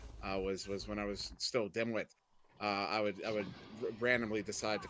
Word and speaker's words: Dimwit: I'd inform them that no, it was actually pronounced Dimwi, as the T was silent, and that they were uncultured for not knowing that ahead of time.